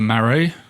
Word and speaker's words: Marais: wrong marray yeah like maray I was long as you don't pronounce the silent S at the end yes exactly that's already